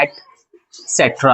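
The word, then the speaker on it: et cetera: लेकिन जब प्रोनाउंसिएशन करेंगे तो हमेशा एटसेट्रा आता है। ठीक है, प्रोनाउंसिएशन एटसेट्रा आता है, लेकिन हमेशा आप जब लिखेंगे अपनी कॉपी में तो आप क्या करेंगे? एक्सेट्रा लिखेंगे, ETC का फुल फॉर्म है।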